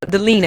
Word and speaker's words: Delina: Tell us about Delina. Am I pronouncing that correctly?